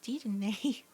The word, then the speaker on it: Dedenne: I've also been told that it's pronounced Dedenne, even though when I see it, I think it's Deden or Deden, but apparently it's Dedenne, like penne, the pasta, I guess.